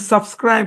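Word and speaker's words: subscribe: প্রথম অংশের উচ্চারণ সাব, পরের অংশের উচ্চারণ ক্রাইব। হ্যাঁ, সাবস্ক্রাইব। হ্যাঁ, সাবস্ক্রাইব। এখানে SCR, আয়ের সাউন্ড লং হবে, তারপরে কি? বি এর উপর গিয়ে পড়বে, এই ইটা তো সাইলেন্ট নাকি?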